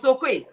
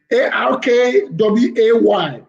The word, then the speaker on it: Akwei: Prof Okwe. Ni full name here Prof Okwe. Professor Okwe. Yeah, mine is AKWEI. Akwe. Akwe. Right? You pronounce it ARKWAY. ARKWAY. Ak and way.